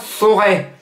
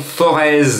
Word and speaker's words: Forez: aulas la forêt alors je m'adresse à ceux qui vont prononcer le nom forez il ya z à la fin mais moi je suis à billonnet j'ai des potes stéphanois et stéphanois me disait jean marc ont dit pas forez la plaine du forez non on dit pas la peine du forez on dit chez nous à saint-etienne chez nous les stéphanois ont dit forêt donc on prononce bien le